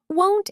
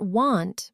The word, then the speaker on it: won't: Won't is a tricky one for pronunciation sometimes. It's that long O sound. Not want, but won't.